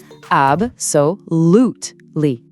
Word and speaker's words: absolutely: Pour la prononciation, il y a quatre syllabes et on insiste bien sur la troisième. AB soutely.